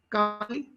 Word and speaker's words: Kali: Kali? Sam, her pronunciation is Kali. Sorry. Is Kali. Kali means the bud of the flower.